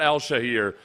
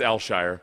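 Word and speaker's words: Al-Shaair: time pronouncing his name it's not ALS shahir it's like one it's alshire okay there we go um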